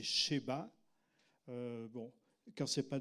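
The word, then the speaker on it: שבא: la reine de Seba soit la reine de Saba carand vous la le prononcez en hébreu c'est cheba euh bon quand c'est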